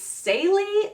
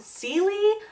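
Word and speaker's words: Célie: The main characters in this book, by the way, I pronounced her name wrong. It's Sally, not Seely, but Seely stuck in my head.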